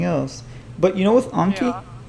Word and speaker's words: Anki: remembered this actually the the name comes from a japanese word um so i'm pretty sure that it actually is anki because in japanese the r is pronounced so i actually think we're the ones in the right yeah we're wrong but